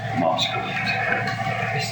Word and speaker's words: Moskalu: I've not heard the name pronounced before. So Yes, Moscow. yeah, there we go.